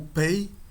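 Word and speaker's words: πῖ: A letra que o representa no alfabeto grego é essa letra aqui, a letra P ou Pay. P é era a pronúncia da época clássica, segundo se supõe. Nós vamos chamar de PI, que é a pronúncia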